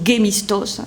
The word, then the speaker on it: Gémistos: Georges Gémistos, ou Gémistos, selon comment on le prononce, dit Pléton.